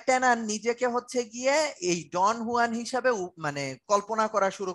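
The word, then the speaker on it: Don Juan: ডন হুয়ান হয়ে গেছেন, ডন জুয়ান বলা যাবে না, এটা ডন হুয়ান, উচ্চারণটা হচ্ছে গিয়ে ডন হুয়ান।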